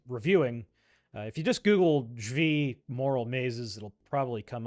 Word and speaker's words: Zvi: There's an entire, there's a book about this, Moral Mazes, Zvi Moroshowitz, Moshevitz, I think.